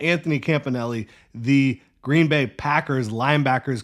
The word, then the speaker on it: Campanile: you also had Anthony Campanelli that is how you pronounce it according to M O'Brien of 1010 XL Anthony Campanelli the Green Bay Packers